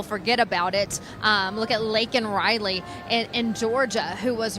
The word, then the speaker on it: Laken: And so he was forced to do so, and he still couldn't say her name correctly. He said Lincoln Riley.